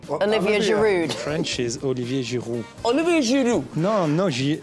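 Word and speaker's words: Giroud: fil does it annoy you how Jamie carer pronounces your name Olivia Jud French is Olivia jiru olivu no no not not with the L not jilu oh Olivia jiru no no no W no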